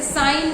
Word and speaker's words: sign: जैसे साइन में SIGN होता है और जीएन साइन में जो जी है वो साइलेंट होता है।